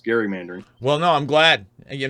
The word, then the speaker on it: gerrymandering: in this one thing it's gerrymandering with a hard G is named after Elbridge Gary Massachusetts governor and it's spelled g-e-r-r-y but his name is Gary so it's gerrymandering well no I'm glad